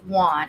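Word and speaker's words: Wone: the murder of Robert Juan it's w NE um and that is how it seems to be pronounced so Robert Eric Juan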